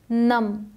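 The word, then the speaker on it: numb: हैं silent letters पे silent B अक्सर साइलेंट होता है मोस्ट ऑफ द टाइम जब एम के बाद आए हमेशा नहीं बट एम के बाद आए तो अक्सर साइलेंट होता है नम इसे नम नहीं पढ़ते इसे सिर्फ और सिर्फ पढ़ेंगे नम ये डम क्रम डेट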